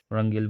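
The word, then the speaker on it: Wrangell: और उसके बाद रंगेल लिखा है, वरंगेल, मतलब वारंगल वाला रंग, वरंगेल है ये, रंगेल बोल दिया था, डब्ल्यू साइलेंट होता है।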